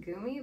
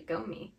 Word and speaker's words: Gomi: I've always pronounced it Gumi, but I found out recently it's actually Gomi.